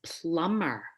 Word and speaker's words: plumber: Another very common one is plumber. Plumber. There is a B right in the middle of that word, but we ignore it.